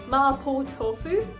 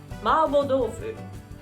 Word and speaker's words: mapo tofu: i'm getting hungry in english we call this marpo tofu i looked up on wikipedia and it said so but in japanese it's more like marble tofu so when you go